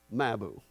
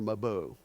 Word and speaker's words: Mabou: And so, Hulls Harbor, Lunenburgg, of course, Mabu or Mabou, depending on where you're at, it's pronounced differently.